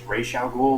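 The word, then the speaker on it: Ra's al Ghul: to the role of Raza ghoul I know the proper pronunciation is Ral ghoul but I'm not going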